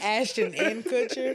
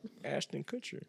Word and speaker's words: Ashton Kutcher: I like the way you pronounce that. Ashton Kutcher. You sound like you. It sound like you put an and in between Ashton and Koocher.